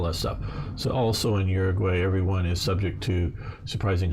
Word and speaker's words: Uruguay: frederico varga is from uruguay i know uruguay is the maybe more correct pronunciation but if you will use the american uruguay just because that's what we understand and i'm not trying